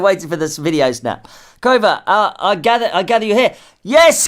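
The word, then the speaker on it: Qover: We call it Cover.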